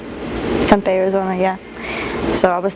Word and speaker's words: Tempe: Tempe. Tempe, Arizona, yeah.